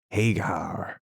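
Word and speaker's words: Haigha: happy his name is Hagar he pronounced it so as to rhyme with mayor I love my love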